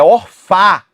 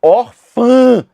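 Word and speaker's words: órfã: O tio tá ali só para dizer que a pronúncia dessa palavra não é orfá e sim orfã.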